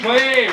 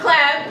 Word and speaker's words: Cleave: One thing, because I have my family in the audience, if I didn't correct the pronunciation of our last name, they would literally me. So it's Cleb, just so everybody out there in the universe knows.